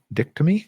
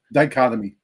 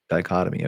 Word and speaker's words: dichotomy: The camping industry is witnessing a notable dicttomy. Is that how you pronounce that? Dichotomy. Dichotomy.